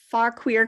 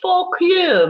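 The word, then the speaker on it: Fauquier: i live out in far queer country uh virginia now it's pronounced for clear my dear named after francis talkier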